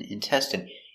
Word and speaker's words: intestine: good next we have intestine so remember the INE is pronounced in in intestine one intestine two intestines that's